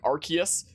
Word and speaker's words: Arceus: that which humans call osseous i know that the uh i do know that the correct pronunciation is supposed to be like arceus i don't care i